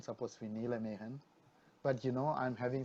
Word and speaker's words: Mehan: calling myself as just man alright preferred to be called me as man and call me one if you want to try the Tamil pronunciation call me Mahan alright I am known